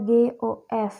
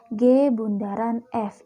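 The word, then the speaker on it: g ∘ f: G Bundaran fungsi f ini dibaca Bundaran ya bukannya becao Jadi biasanya di banyak yang baca geos tapi yang benar bacanya adalah G Bundaran F itu artinya fungsi G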